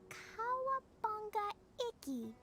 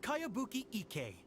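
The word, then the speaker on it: Kayabuki Ikkei: By Kawabunga Iki. Yomiya, this is a Kawabunga really Iki. strange name. ठीक बोल रही है, अजीब नाम है. Who's this Kawabunga? It's pronounced Kayabuki Ike.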